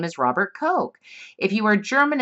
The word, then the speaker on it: Koch: he's from Germany and his name is Robert Koch if you were German it's pronounced Cole right so that it would be the university